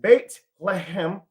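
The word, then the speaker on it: בית לחם: The meaning of the word Bethlehem, Bethlehem in Hebrew, okay, Bethlehem in Hebrew, the city's name is pronounced Beit Lehem.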